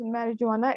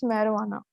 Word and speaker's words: marijuana: is not pronounced as marijuana it is marijuana so J is silent okay otherwise it was